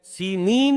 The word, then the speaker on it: سینین: صحرائے سینا، یہ ہے، سینین اس کا تلفظ ہے، یہ جمع کا صیغہ آیا ہے، اور عبرانی میں اس کو سینین کہتے ہیں۔ عربی زبان میں یہ